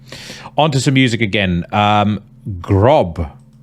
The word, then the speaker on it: Grab: Grob. I'm assuming it's pronounced Grob because you have the umlaut on the A. It's spelled Grab. But anyway, let's go with Grob.